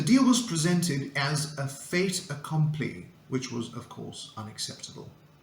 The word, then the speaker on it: fait accompli: It comes from French, and the pronunciation is fait accompli, which means a done deal, something that is presented as final or impossible to change.